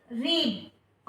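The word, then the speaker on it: read: ध्यान रखें, रीड की फर्स्ट, सेकंड और थर्ड फॉर्म तीनों सेम होती हैं, बस इसका बोलने में डिफरेंस होता है, प्रोनाउंसिएशन डिफरेंस होता है इसका। रीड रेड रेड।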